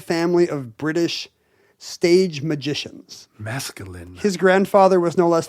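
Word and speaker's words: Maskelyne: right there Jasper Mas so Jasper Mas not masculine Jasper masculine oh mascul and it's spelled even cooler m a s k l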